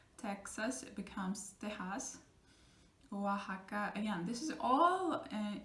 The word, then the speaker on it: Oaxaca: Oaxaca, again, this is all like indigenous words, names of places, and they're spelled with X, but we pronounce it like soft H.